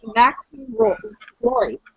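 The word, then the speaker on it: Maxim Roy: And then the one who's going to play her mother, Jocelyn Fairchild, is going to be Maxine Rory.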